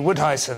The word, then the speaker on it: Woudhuysen: Have I pronounced your surname correctly? Woudhuysen.